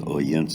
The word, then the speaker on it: Odense: Right in the center here is Odense, that is spelled with a D.